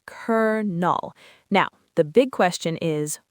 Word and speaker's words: colonel: It's a total rebellion against its own spelling. It is. So, our final sound is cur null.